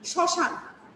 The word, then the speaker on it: শ্মশান: যেমন শ্মশান, শ্মশান, শ্মশান বানানে দেখো শ্মশান। এই শ্মশানে দেখো শুরুতে কি শতে চাপ দিতে হচ্ছে, একটু জোর দিয়ে বলতে হচ্ছে, এবং চন্দ্রবিন্দু আছে, আছে না?